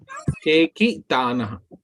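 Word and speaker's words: चेकितानः: दृष्टकेतुश्चेतिकानः Chekitanaha. केकितानः. Okay, thank you. This C is pronounced as cha.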